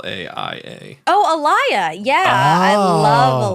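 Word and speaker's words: Alaïa: his last a l a i a oh Alia yeah I love aliia you do he's passed right I think she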